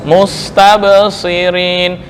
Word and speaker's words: مستبصرين: Bukan firin, so mustabsirin.